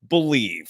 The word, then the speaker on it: BLEAV: Use the promo code BELIEVE. That's spelled BLEAV for your 50% free bet credit on your first deposit up to $250.